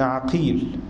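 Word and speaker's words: عَقيل: يقول: وإن اتفقت الأسماء خطا ونطقا واختلف الآباء نطقا مع ائتلافهما خطا، كمحمد بن عقيل بفتح العين ومحمد بن عقيل بضمها، أو اتفقت الأسماء خطا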